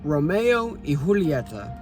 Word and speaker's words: Romeo y Julieta: The two named their cigar brand after the famous Shakespearean tragedy Romeo and Juliet, but since they were Spanish, it's pronounced as Romeo y Julieta.